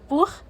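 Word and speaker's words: Buch: أول حاجة بننطقها خ في الكلمة قبلها حرف من الحروف دول، الآ أو الأو أو الأو، وهنا اللي تسيها جه قبلها الأو.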